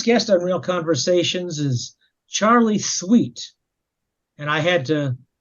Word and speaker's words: Charley: Today's guest on Real Conversations is Charley Thweatt, and I had to make sure I pronounced that correctly.